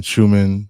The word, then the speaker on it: Schumann: The Schumann resonance, am I saying it right? Yeah. Schumann Schumann resonance. Schumann.